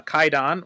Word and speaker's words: Kwaidan: to it uh today we're talking about uh kaidon which is a a 1964 Japanese Anthology uh